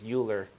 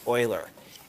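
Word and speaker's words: Euler: from the left a lot of times people pronounce his name as uler um but it's actually Oiler and he named him after he named it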